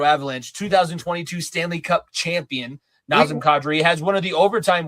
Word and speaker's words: Nazem Kadri: or so so so I saw the correct pronunciation. It's Nazam Cadri. Nazim is a and and nauseum and the a and kadri or kadri is like a a like cat nazim kadri or na and cat not cat.